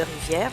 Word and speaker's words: rivière: Le E de rivière ne se prononce pas et ne se compte pas surtout.